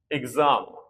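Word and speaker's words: exam: जैसे दो स्वरों के बीच में यानी दो बल्स के बीच में जैसे एग्जाम तो देखिए इ और ये ए ये दोनों क्या है?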